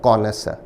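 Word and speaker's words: connoisseur: उच्चारण है कॉनस, कॉनस।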